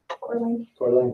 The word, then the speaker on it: Coeur d'Alene: Coeur d'Alene, thank you.